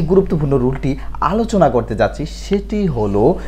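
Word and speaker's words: wrong: হ্যাঁ, দ্বিতীয় নাম্বার যে ওয়ার্ডটি সেটি হলো ডাব্লিউ আর ও এন জি, রং। রং তো ভুল, রং রং রং রং তো ভুল। হ্যাঁ, তাহলে এখানেও ডাব্লিউটি, ডাব্লিউ লেটারটি সাইলেন্ট রয়েছে।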